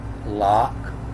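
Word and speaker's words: לקח: Now it's L-Q-H, and sometimes that's pronounced lock, and sometimes it has the hyphen in the word in front of it, and so now it's hack lock.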